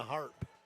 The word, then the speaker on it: Harpe: Kill number two for Dana Harp. It's spelled H A R P E, but HARP.